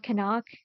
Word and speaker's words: Knock: Um, I did think it was pronounced knock, like knock, knock on wood, knock on the door, like it is in English, but apparently the recent Nose Fatu remake is pronounced kanak.